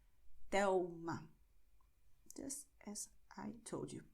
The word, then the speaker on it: Telma: You're going to write L, but you're going to pronounce U, which is why you say Miguel, Thelma. Okay, so this is the way it sounds. Miguel, Thelma.